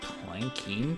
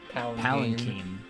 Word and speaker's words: palanquin: Do you have a planking prepared for me? Palanquin. They spelled it wrong. Yeah, isn't like It's spelled with a Q?